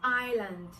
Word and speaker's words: island: The next one is island. Island is spelled as I-S-L Now there's another word that is also pronounced as island.